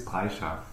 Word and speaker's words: Brejcha: Pronounce it for me. Actually, it's Brejcha.